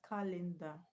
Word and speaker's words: calendar: Okay, what about calendar? Calendar has three syllables. Okay, now three syllable words that three syllable words that are nouns are also stressed on the first level.